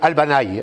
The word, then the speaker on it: Albany: Et si je voulais faire l'américain, je dirais Albany. Mais je ne vais pas tout vous prononcer avec l'accent nasillard, mais c'est Albanaï, et voilà, comme un aïe d'ailleurs, puisqu'il y a deux i.